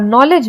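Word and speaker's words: knowledge: silent होता है और नॉलेज में के साइलेंट होता है निमोनिया में पी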